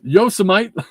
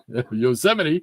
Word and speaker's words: Yosemite: Robert and the Greyman Rod pronounces Yosemite Yoseite like a gentile greeting a Jewish person. Yosite Oh man, you're killing me, Greyman.